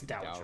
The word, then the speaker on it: dowager: I think it's Dowager. Like It's Dowager. Dowry. Like dowry.